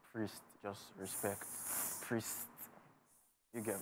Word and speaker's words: Priesst: mean I just felt like the should be pronounced priest just respect priest you get me interesting you